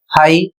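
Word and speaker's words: high: यहां पर देखिए बहुत से ऐसे शब्द हैं जिसमें जी एच का उच्चारण ही नहीं किया जा रहा है। तो यह आप तभी समझ पाएंगे जब मेरा पिछला वीडियो जी एच का या फिर जी साइलेंट का पूरा देख लेंगे तो उसमें आपको आसानी से समझ में आ जाएगा कि क्यों साइलेंट होता है।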